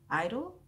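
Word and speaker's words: (G)I-DLE: group and it is called G parentheses G idol but it's supposed to be pronounced I do which is children and Korean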